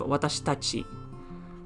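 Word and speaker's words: 私たち: Oh well, a last one I guess is when you want to say us as in plural, you can have watashi tachi.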